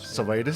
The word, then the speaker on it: Savaidis: Savaidis, sorry. Savaidis is the anglicised version. The real version is Savaidis. Savaidis. That's much better. That's the way Greeks actually say it.